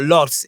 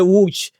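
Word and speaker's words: Łódź: Poznan, you are going to Poznan or Lodz, or by Whoosh. you say Lodz, and they will not know. So you have to Yes. say Wooch. So learn Yes. how to pronounce it properly.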